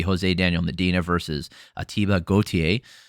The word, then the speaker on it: Gautier: This is going to be Jose Daniel Medina versus Ateba Gautier. It's spelled different than the musical artist, but pronounced the same from what I can tell.